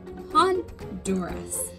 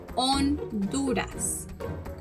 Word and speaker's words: Honduras: to as el salvador the correct way to pronounce it is el salvador on dudas in english often times honduras is referred to as han duress remember in english that age has like a